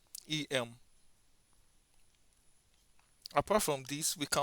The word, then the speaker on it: em: That means we pronounce it as em.